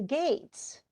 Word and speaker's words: Geats: comes, and among the gates, and it looks like Geats, but it's Gates. That's how it's pronounced.